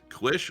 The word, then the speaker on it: quiche: I don't think I can even pronounce that, Torin. Quish?